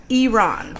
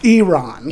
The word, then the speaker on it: Iran: It's It's Iron. Iron. Iran is the correct pronunciation.